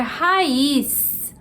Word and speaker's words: raiz: Por fim, número 20, a gente tem a palavra raiz. Raiz, que assim como juiz termina em Z e é oxítona.